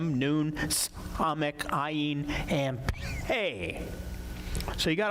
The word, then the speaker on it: Ayin: You might remember the ayin is what? What sound does it make? Silent, right?